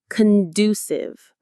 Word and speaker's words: conducive: Conducive. Conducive. Stress on this second syllable.